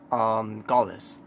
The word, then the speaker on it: Gallus: Because now they decided to go on the give them a faction's name, and they call themselves Gaullus. That's the how you pronounce their faction name, which is funny, because